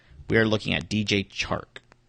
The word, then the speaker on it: Chark: We are looking at DJ Chark. It's so hard to say his name. Chark? Chark. Because I want to keep saying Shark.